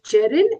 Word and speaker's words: Jerin: Uh here his name is Jerin and not I know you said it differently.